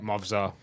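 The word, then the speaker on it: Movsar: Movzar.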